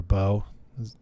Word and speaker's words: LaBeouf: with um shia labeouf or beau and the f is silent sorry shia labeou uh